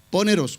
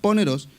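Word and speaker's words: πονηρός: usa la palabra poneros no poneros con acento en la el lado para la parte final poneros qué significa lo primero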